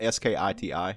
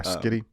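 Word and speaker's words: Schiti: I think it's pronounced Skitty. Please, like you pronounce it Skiti. Yeah, Skitty. Please. I think I really hope that's how you say it.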